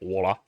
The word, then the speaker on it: Waller: You had Grayson Waller and sorry, I gotta say it right, Waller.